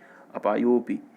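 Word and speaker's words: अपायोऽपि: बताए थे ये शब्द अवग्रह का चिन्ह केवल ये दर्शाता है कि यहाँ पर कौन सा शब्द है, अ, उसको पढ़ते नहीं, उसका उच्चारण नहीं करते, अपायोपि, एक समस्या भी वर्तते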